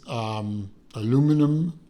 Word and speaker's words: aluminum: I believe the insert is aluminum, or no, I'm not going to say it how the Euros say it. It's aluminum. It's not that other pronunciation. Stop it.